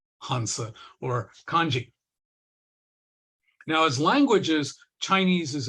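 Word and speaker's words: 漢字: Japanese these are called kanji which is a different pronunciation of these same two characters now the Korean language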